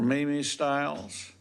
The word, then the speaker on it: Mimi Styles: angel thank you now is it Styles or Mimi styles come on up tell me how to pronounce the first so my real name is however my name is Mimi Styles and that's why Mimi